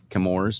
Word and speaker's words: Chemours: and brandon marshall from camour's uh do i say that right kimora is that the right right pronunciation got it so we're